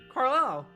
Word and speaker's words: Carlisle: As an isle, like island. Carlisle. You are correct.